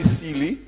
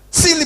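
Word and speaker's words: Sealy: and you know because s e a l y which is my name but s i l l y which means stupid and foolish they all they pronounce the same you know so they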